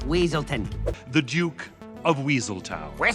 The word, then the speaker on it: Weaselton: of wesselton in Frozen Judy even mispronounces his name as wesselton in the film what were you gonna do with those night howlers wesleton it's weaselton the Duke of weasel